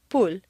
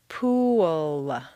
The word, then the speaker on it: pool: Pool looks like a nice 1-syllable word, but if you say it this way, at best it will sound like pool, and at worst it will be unintelligible to your listener. For clear comprehension, you need to say 3 syllables, pool. Where did that W come from? It's certainly not written down anywhere, but it is there just as definitely as the P is there.